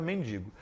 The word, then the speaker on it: mendigo: Mendigo é mais difícil, né, das pessoas falarem, mas a palavra certa é mendigo.